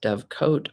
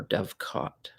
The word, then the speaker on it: dovecote: the last e and it's pronounced dove coat or dove caught this is a noun